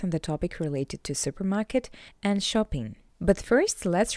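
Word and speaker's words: супермаркет: Therefore, to pronounce this word in Russian, you just need to read the English version with a Russian accent. Supermarket. supermarket supermarket How you can understand, it's all about the sound "r".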